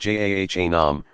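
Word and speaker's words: جهنم: Jahannam, pronounced Jahanam, represents the state of refusal to acknowledge God's sovereignty.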